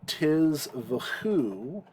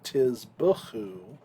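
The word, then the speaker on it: תִּזְבְּחוּ: Lo tiz v'chu, actually lo tiz b'chu, zivchei Adonai tahorim al mizbeach tameh.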